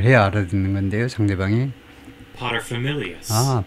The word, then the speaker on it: paterfamilias: 상대방이 paterfamilias. paterfamilias. pater 앞에다 첫 번째 음절에다 secondary 액센트를 주고 paterfamilias, 밀 이쪽에다가 그 primary 제1의 액센트를 주고요.